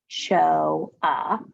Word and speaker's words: Ochoa: Ellen Ochoa, remember it shows you here how to say it, Ochoa, can.